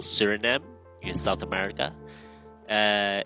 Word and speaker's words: Suriname: South America beautiful country with beautiful people called Surinm in South America. Uh it's spelled with s u r i n a m e in the title as you can see.